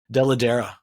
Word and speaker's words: Dell'Edera: I'm going to say the name wrong too. It's Dell'Edera.